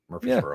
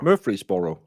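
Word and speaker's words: Murphysboro: How do you pronounce Murphreey's Borro? Just like that. Murphy'sboro. Murphy'sboro.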